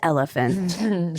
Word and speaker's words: Oliphant: It's pronounced elephant.